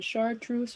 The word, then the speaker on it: chartreuse: truth were the same i like the fact that it starts with the letter c i like that it rhymes with moose so you could have a chartreuse moose i think it